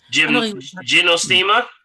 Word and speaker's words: Gynostemma: Gynostemma? Yes. How do you spell that, please?